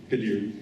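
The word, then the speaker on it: Khadir: first elected Amir kahir I'm sorry can you pronounce that K Kadir um to the Quebec National Assembly in December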